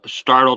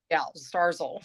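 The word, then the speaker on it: Starzl: that Alex was listed at the UPMC uh startle transplant center in Pittsburgh that's right he went on to the Lipton did I pronounce that wrong go ahead Bobby darzel Stars okay Starz old yeah yes it's here he went on to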